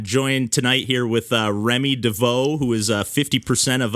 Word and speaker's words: Rémy Devaux: can do it so hi everyone uh i'm remy devoe and yeah i'm 50 percent of pancake hmm